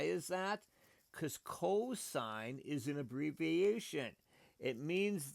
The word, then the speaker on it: sine: an angle angle yes it's pronounced sign it's s i n e but we abbreviate s